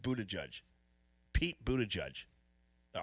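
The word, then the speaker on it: Buttigieg: I'm just saying okay it's Buddha judge that's good that's good that's a good way to put that pronounced Buddha judge Pete Buddha judge all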